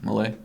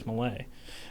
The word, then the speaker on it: Milei: Milei? I believe so. Okay. Is it? Have you heard another person? I don't know. Oh, I believe it's Milei.